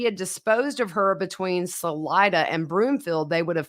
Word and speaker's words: Salida: episodes of this case we have been pronouncing salida wrong yeah we've been saying selita well sorry y'all uh